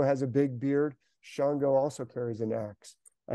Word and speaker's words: Shango: His name is spelled, sometimes starts with an X, A-N-G-O, Shango, or sometimes S-H-A-N-G-O. They spell it different ways.